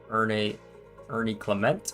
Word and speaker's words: Ernie Clement: Ernie Clement. That's how you pronounce his name.